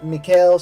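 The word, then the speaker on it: Michele: It's Mikhail Soavi.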